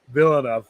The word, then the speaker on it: Villeneuve: we should stay uh it is pronounced denis villeneuve villeneuve phil enough you know yeah i i tortured his name it's french canadian and i and i